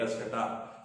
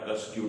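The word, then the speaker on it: Cuscuta: एस C yeti ए कस कटा या कसक्यू जैसा भी आप प्रोनाउंस करना चाहे इसको हिंदी में हम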